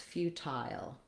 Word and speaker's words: futile: We also have an alternative pronunciation for feudal. So feudal is one way in American English. In British English, and also another option in American English for feudal would be to do, again, few at the beginning and then secondary stress, futile. And then it is just like the word tile. That sounds like few tile.